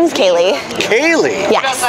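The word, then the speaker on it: Kaleigh: of thing in the blood my name is Kaye Kaye yes how do you spell it Kaye k a l e i g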